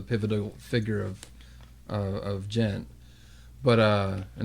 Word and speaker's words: djent: figure of of of jent but uh and it's spelled djent t just so everybody knows I'll tell you what